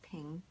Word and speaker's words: Phing: yes which one so my name is pH ing but it's pronounced ping but if you like to call me thing I prefer ping ping personally you like to